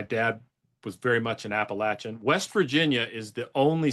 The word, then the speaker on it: Appalachia: How do you pronounce it appropriately? Appalachia.